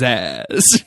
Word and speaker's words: Zzax: Yeah, where Banner says Zaz, he goes, no, it's Zaz.